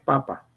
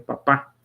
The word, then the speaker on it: papa: esa forma Solo que la pronunciación es papa no es papá Entonces ese primer ese